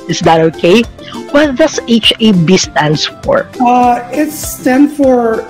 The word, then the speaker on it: HaB: I just pronounced it as HaB Korea. It should be pronounced as HaB Korea, not HAB Korea.